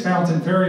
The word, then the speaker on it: Fontaine Ferry: We say it's Fountain Ferry, but if you see how it's pronounced, it's Fontaine Ferry. We Louisvillians call it Fountain.